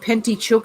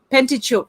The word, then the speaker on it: Pentateuch: Brian said it's pronounced Pentateuch, Hev. Thank you, Brian. Pentateuch.